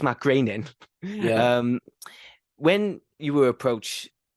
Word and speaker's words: Groening: When Futurama was becoming in development and Matt Groening, I have said it right because I call him Matt Groening, but it's Matt Groening.